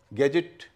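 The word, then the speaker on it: gadget: अब हम ऐसे शब्द के बारे में बात करते हैं जो कि जिसमें कि ग उच्चारण है। जैसे गैजेट, GET है, ज उच्चारण हो रहा है, और पहले का ग हो रहा है।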